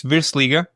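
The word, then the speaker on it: Virslīga: Is it the Versliga? Yeah, it's really called. You pronounce it in the really, really good way. It's Virsliga.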